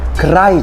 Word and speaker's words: Kadhai: Because why is it pronounced Kadhai chicken? It sounds like karai chicken.